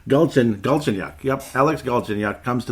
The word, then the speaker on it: Galchenyuk: Galchenyuk.